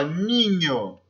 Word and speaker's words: niño: Então, la N, o la N, ele tem o som do NH do português, como no exemplo aqui, ó, niño, espanhol, beleza?